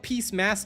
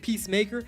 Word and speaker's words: Peacemaker: Did you just call it peacem instead of peacemaker? It's the peace maker, guys. Come on, stop mispronouncing that.